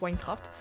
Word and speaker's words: Wynncraft: à la province de Wine, le cerveau se prononce Winecraft, et du coup vous le voyez pas, mais